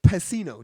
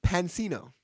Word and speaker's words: Pansino: Rosanna his YouTuber name Rosanna Pacino do you know her I know her this YouTuber named Rosanna Pansino I said her name wrong I to do for